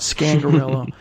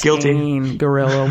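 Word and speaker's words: Scangarello: pronouncing his name wrong it's not scandal it's guilt in gorilla with both of us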